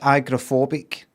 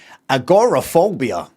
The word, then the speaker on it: agoraphobia: Um, and then I don't know, the last 10 years I'd hear some Americans say agorophobia like agoraphobia. It's not just agrophobia.